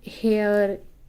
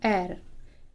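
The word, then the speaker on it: heir: द एयर, अब यहाँ पे ये हेयर, हियर ऐसा कुछ नहीं पढ़ेंगे। इसका जो प्रोनाउंसिएशन है वो होता है एर।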